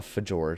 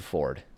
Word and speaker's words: fjord: ourselves a nice polluted fjord a fajard if you will and I won't it's a Ford you just pronounce it for say Ford it's fine but not like